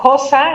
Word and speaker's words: cosa: decían la palabra cosa, nosotros decimos cosa en español actual, con un tipo de S que técnicamente se llama sorda, antes se pronunciaba cosa, con la misma S sonora que por ejemplo tiene el francés.